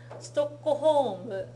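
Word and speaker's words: ストックホルム: Okay, now 2 番、ストックホーム is how you're going to pronounce that one.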